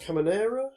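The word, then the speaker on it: Carménère: I have I think it's pronounced Caminera, which is apparently the indigenous grape of Chile.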